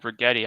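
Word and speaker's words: Rigetti: like this company called bretti I'm going to buy it say you're an imbecile uh and don't buy it price rhymes with spaghetti though it's very strong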